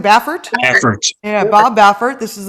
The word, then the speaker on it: Baffert: Baffert.